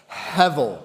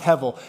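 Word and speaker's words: הֶבֶל: And it's the Hebrew word hevel. All right, say it with me, class. Hevel. Okay? It's pronounced h e or it's it's it's looks like h e b e l, but it's pronounced hevel.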